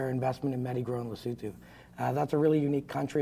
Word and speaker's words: Lesotho: think Lesotho is the country that should be pronounced Lesotho in my book, but it's Lesotho anyways.